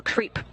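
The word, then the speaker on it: KREEP: a weird component that we call creep and it's spelled k r e e p and stands for potassium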